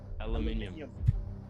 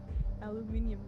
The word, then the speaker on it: aluminium: we were looking at things that australians say differently and it was aluminum and i was like how do you see it he says how do you say it aluminum aluminium that's so fun it's got an extra no paper isn't still